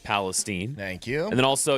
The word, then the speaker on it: Palestine: The fine municipality of East Palestine, Ohio, is pronounced Palestine.